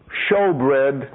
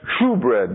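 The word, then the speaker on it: shewbread: light the table of showbread to use the King James translation it looks like shoe bread doesn't it s h e w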